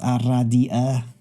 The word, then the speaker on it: Aradia: It is pronounced Aradia.